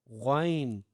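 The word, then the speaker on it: غ: And then we have ghain, ghain with the full mouth and bold word, ghain.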